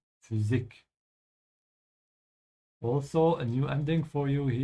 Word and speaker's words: Physik: Yeah, again here with the Y, that's pronounced like an U, yeah? So don't say physic, yeah? Physik.